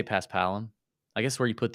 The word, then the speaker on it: Paspalum: I say Paspalum.